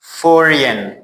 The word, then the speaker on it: foreign: Like sign, design, resign, foreign, align.